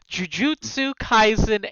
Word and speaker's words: Jujutsu Kaisen: And Shal is answering questions on, and you'll have to correct me on the pronunciation because he picked what he wanted, Jujutsu Kaisen anime.